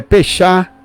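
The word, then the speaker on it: פסח: Páscoa vem do hebraico em hebraico a pronúncia é fechar que significa passar por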